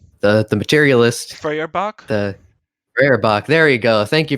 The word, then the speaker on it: Feuerbach: the Feuerbach. There you go. Thank you for pronouncing that for me.